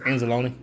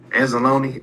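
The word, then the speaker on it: Anzalone: Analone. Analone.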